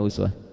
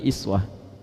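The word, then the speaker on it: أسوة: tahu dari mana Uswah Kalau Anda main ke sebagian negara di Timur Tengah mereka bacanya iswah baik riwayat waras qolun bacanya iswah di Libya dibaca iswah di Maroko iswah Aljazair ya daerah-daerah Afrika Utara bacanya iswah jadi yang betul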